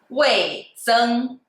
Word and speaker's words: 味增: 味增 is a 4 tone and the first tone.